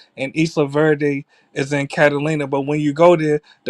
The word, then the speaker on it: Carolina: When I say Catalina, it's spelled like Carolina, like North Carolina.